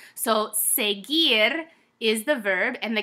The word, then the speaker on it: seguir: will want to say seguir and that's not it it's a hard G and often times when you have a G and a u together it's just gonna be